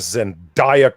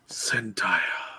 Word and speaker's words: Zendaya: They replaced this girl with Zendaya Coleman. Oh, say her name right. She's a perfume. Zendaya. No, Zendaya.